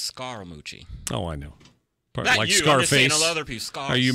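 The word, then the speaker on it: Scaramucci: drop just that simply which it's technically pronounced SCARA Moochie oh I know are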